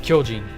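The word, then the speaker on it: 巨人: how you write it i mean and it's pronounced kyojin anyone here a fan of a certain attack on titan well the word titan in the name attack on titan is kyojin what am i building can i ask you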